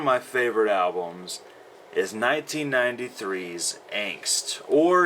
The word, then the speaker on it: Angst: favorite albums is 1993's angst or if you want want to use the German pronunciation it's anst um what do you